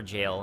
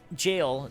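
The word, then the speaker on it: gaol: and forlorn hound ever jail and uh so jail g-a-o-l which looks like gal that's pronounced jail is really just another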